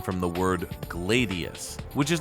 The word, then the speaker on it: gladius: However, it's worth noting that the Roman sword is specifically pronounced gladius.